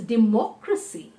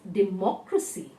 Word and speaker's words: democracy: say for instance here the word democrat the moment it becomes it's we have a crash c at the back so it be the shift in the syllable you know the stressed syllable is from there to more so it's democracy the one that was democrat the day the accent on day now the accent has moved to more and it's democracy now let us talk